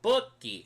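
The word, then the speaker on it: Bookie: Is that how you pronounce it? Booty Bay Buki. Oh, Buki.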